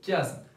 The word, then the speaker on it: chiasme: s'agit bien évidemment de chiasme. Mais attention s'il vous plaît, et si on écrit CH mais on ne prononce pas le son CH, on prononce KE, d'accord? Le chiasme et non pas le chiasme.